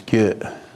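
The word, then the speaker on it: རྒྱུད: But in Tibetan, it's Gye. The R is silent, the G with the Y makes a Gye, and the U and G.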